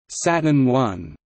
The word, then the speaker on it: Saturn I: The Saturn I, pronounced Saturn I, was the United States'